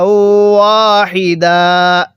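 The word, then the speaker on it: وَاحِدًا: ওয়াকফের সময়, শুধুমাত্র ওয়াকফের সময় যদি 2 জবরের পরে এরকম খালি আলিফ থাকে তাহলে 1 জবরকে বাদ দিয়ে আরেক জবরে 1 আলিফ টেনে পড়তে হবে।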